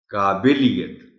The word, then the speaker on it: قابلیت: گا اس کو غلط۔ قابلیت، چونکہ لفظ قابل ہے، کابل تو پھر ایک شہر کا نام ہے۔ مرہم، یہ لفظ